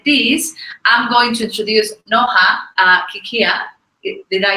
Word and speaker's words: Noha Kikhia: So now, as I said this, I'm going to introduce Noha Kikhia.